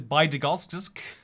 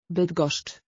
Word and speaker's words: Bydgoszcz: Then this is Bydgoszcz. Bydgoszcz. Like SZ, CZ. It's four hard pronounced syllables in a row right there.